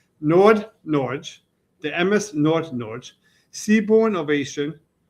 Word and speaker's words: Nordnorge: I can't pronounce it. It's n o r d n o r g Nordnorge.